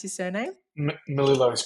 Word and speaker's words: Melillo: Robert Melillo, is that how I pronounce his surname? Melillo is correct, yes.